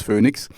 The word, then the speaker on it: Phoenix: called phoenix phoenix sorry in english as phoenix in german it's phoenix phoenix and uh so you